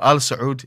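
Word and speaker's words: آل: but this is Al so it's a long a long yeah so that's the difference so Al the family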